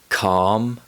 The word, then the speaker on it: calm: in words like ball be careful the letter l doesn't always produce the sound and it's often silent when it's found in combination with letters m k f and o u d for example calm torque half and would let's go back to